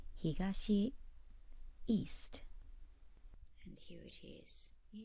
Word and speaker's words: 東: And it's pronounced higashi east.